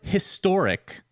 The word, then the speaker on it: historic: Americans have no excuse the word historic it starts with an H you say the H but people still say and historic for some [ __